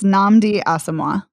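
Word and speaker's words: Nnamdi Asomugha: a former football player that's our lead it's namdi asima thank you um and he is quite fine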